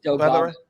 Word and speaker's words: Delgatto: Delgatto.